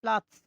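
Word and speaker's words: Platz: পেতে প্লাৎস, প্লাৎস।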